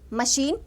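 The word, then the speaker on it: machine: जैसे मशीन and mechanic. मैं यहां लिख रही हूं मशीन and mechanic. मशीन and mechanic. तो मशीन में सी एच की साउंड को हम श प्रोनाउंस करते हैं और मैकेनिक में सी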